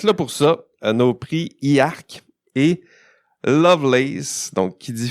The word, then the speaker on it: IArk: ça nous fait dire IARC et il faut prononcer chaque syllabe si vous voulez que ça fasse du sens et si vous voulez que le jeu de mots soit efficace.